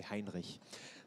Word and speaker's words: Hinrich: investor as bro Vincent hinish hinr you have to say Hinrich that's how you say it already said uh and